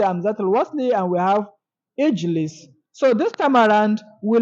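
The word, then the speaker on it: اجلس: So we say Ijlis. We don't say Ujulis, no, it is wrong. And we don't say Agilis, no, it is wrong.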